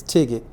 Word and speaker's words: TGID: Pronounced as a word, it's Tigit.